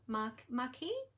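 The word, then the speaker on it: marquise: my notes here um it is marquee m-a-r-q-u-i-s-e is what they call them maki i think that's how you would pronounce it and the other ones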